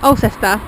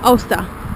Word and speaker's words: Alcester: I've been pronouncing the place Alcester, and I heard some of the kids talking today, I heard them calling it Ulster.